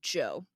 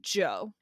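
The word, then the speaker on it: Zhou: I found out that you pronounce his name Joe. So it's King Joe, which isn't funny.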